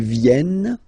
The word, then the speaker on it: viennent: Ils viennent, elles viennent. Ils viennent, elles viennent. All right? E-N-T, you don't pronounce them. Ils viennent, elles viennent.